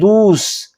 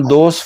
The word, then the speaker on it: دوست: ہم دوست فارسی زبان کی بجائے پنجابی اردو میں لفظ دوست پڑھتے ہیں لیکن اس کا فارسی تلفظ دوست ہے اور اس کے بھی تے پر پہنچتے پہنچتے آپ اس کو ذرا آواز کو دھیما کر دیں تو یہ ہو جائے گا دوس.